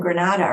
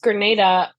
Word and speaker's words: Grenada: real political person from Granada right that yeah yeah it's it's uh pronounced Grenada and I I think